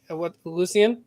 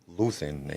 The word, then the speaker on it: Luthen: was gonna the guy Lucien, right? Lucien. Mm-hmm. Can't say his name right for some reason. Luthen, ain't it? Yeah, Luthen.